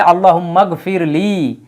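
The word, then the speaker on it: اللَّهُمَّ اغْفِرْ لِي: কিন্তু একই ফরমেটে আসছে যেহেতু বাক্যের মাঝখানে তখন কিন্তু হামজাতুল ওয়াসালের উচ্চারণ হচ্ছে না উচ্চারণ করা হচ্ছে না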